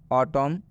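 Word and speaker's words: autumn: में बता दें कि यदि एम के बाद एन आता है तो यह एन साइलेंट हो जाता है, मतलब इस एन का उच्चारण नहीं करना है, नहीं पढ़ना है, हम एम तक ही सीमित रहेंगे।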